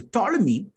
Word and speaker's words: Ptolemy: Now, Ptolemy, you don't pronounce the P, you only pronounce from T. So Ptolemy, who was a satrap